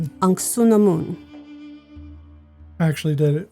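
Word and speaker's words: Anck-su-namun: Patricia Velasquez played an uh It's anamoon. Ansunamoon. actually did it phonetically.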